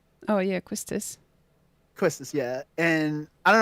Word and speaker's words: Quistis: I gave Ifrit to Zell, and Shiva went to Questis, how you say her name. Oh yeah, Quistis.